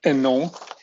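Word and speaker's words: Hénon: theoretical mathematical astronomer Marcel Eno H is not pronounced in French in a moment I'll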